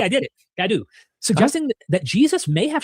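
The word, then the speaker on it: Cadoux: Okay, Cadu. I did it. Cadu.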